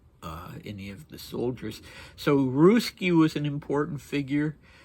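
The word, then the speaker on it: Ruzsky: So Ruski was an important figure. It's not Ruski as in a Russian person. It's a different spelling, but it's pronounced Ruski.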